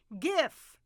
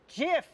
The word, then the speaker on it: GIF: to pronounce the word the inventor says it should be Jif not GIF gif as in the peanut butter I was turned into